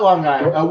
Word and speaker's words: Long Island: Oh, I know about Long Island. Wait, I'll even say it correctly. Long Island, because you got to have that big "g" in front of it.